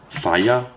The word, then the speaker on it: Fage: of beige Greek yogurt I just call it Fage by the way I know it says on the jar actually pronounced fire which actually sounds cool that's what I care